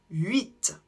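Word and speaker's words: huit: la même manière 8 ici on ne prononce pas le H du début 8 on ne le prononce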